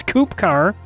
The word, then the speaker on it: KupKar: Well, most people will say KupKar, but the proper pronunciation is KupKar.